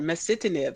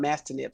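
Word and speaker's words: masitinib: uh you know i finally did get that pronunciation right mesitanib so somehow i was missing that eye and i was calling it mastinip so thank you for that i learned something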